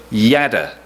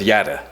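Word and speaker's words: יָדַע: the hebrew word yada i may not have pronounced that right but as probably a few of you know how to pronounce it i'm going to go with yada and and pastor who actually does know is nodding so i'm on the right track it appears roughly a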